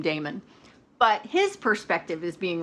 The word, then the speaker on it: Damon: da e mo n I actually went online to figure out how that's pronounced because Justine err pronounces it demon okay I can't do that I cannot I just I can't bring myself to call this character demon so I'm calling him Damon but his perspective is